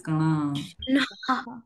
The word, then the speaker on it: Krishna: Krishna, Krishna. Krishna, So in English, most of us pronounce Krishna, Hare Krishna, like that. Actually, it is Kana. If you see recite in Sanskrit, it is Hare Kana.